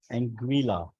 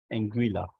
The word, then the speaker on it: Anguilla: मैंने कहा यार जरा मुझे बता तो सही इसको प्रोनाउंस कैसे करूँ मैं। Anguilla. एंग्विला, ये एंग्विला कंट्री है जी।